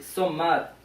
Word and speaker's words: sommar: Like say sommar. Sommar. Awesome. And it's like how you spell it. It's like almost the same.